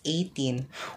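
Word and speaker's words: A'TIN: up group sb19 and they called their fans 18 which spelled with an a and a past apostrophe and then t i n 18.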